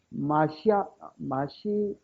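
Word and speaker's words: מָשִׁיחַ: 근데 이게 마시아 이거는 사실 예를 들어서 워터 이라면 안 되듯이 워를 이래야 되지요. 이거는 진하게 발음되면 안 됩니다. 그러니까 마시아 이렇게 됩니다.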